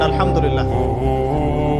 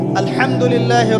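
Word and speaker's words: الحمد لله: আলহামদুলিল্লাহি রাব্বিল আলামিন। এইতো আপনি পড়ছেন আলহামদুলিল্লাহ। শব্দটা কি? আলহামদুলিল্লাহ। এই হা এর মাখরাজ কোথায়? হা এর মাখরাজ কোথায়? বলেন একজন কন্ঠনালীর মাঝখান থেকে এখান থেকে আপনি উচ্চারণ করছেন আলহামদুলিল্লাহি রাব্বিল আলামিন অর্থ দাঁড়াচ্ছে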